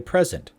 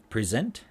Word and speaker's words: present: Most two-syllable verbs place the stress on the second syllable, on the rear end, on the back end. And even though you'll notice that the verb present and export, present, present, present, present, export, export, export, export.